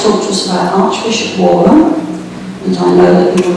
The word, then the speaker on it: Warham: Now, Warham is, as I'm told by members of its family, how we ought to pronounce it, no E, W-R-H-A-M, Warham.